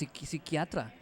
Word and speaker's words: psiquiatra: Psiquiatra. So, psiquiatra in Spanish, like psychiatrist.